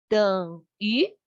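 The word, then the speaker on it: 等于: Its pronunciation would be like deng deng deng deng, the deng, and the v, but at the end of the pronunciation, we curve our lips. 等于.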